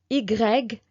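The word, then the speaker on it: i grec: uh e e o o o u u IGG this is how we pronounce this is the name of the letter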